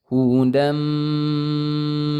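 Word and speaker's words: هُدًى مِّن: Tanwin itu seperti bunyi nun, hudan asalnya, tapi karena bertemu dengan huruf mim, maka dia melebur menjadi suara mim. Hudam, kemudian ditahan dulu 2 harokat. Hudam.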